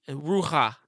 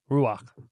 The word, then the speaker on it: ruach: So, the spirit, it says the rua. Did I say it right? Ruach. Ruach. A little better.